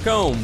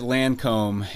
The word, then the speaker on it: Lacombe: get it I I've gotten all different kinds lome is the way that it's pronounced but uh if you've if you've been around uh particularly woman you get Lancome more times than you'd care to admit but